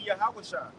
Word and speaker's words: Yahushua: him and Yahushua, or how to say his name in the Hebrew, it would be Yahushua.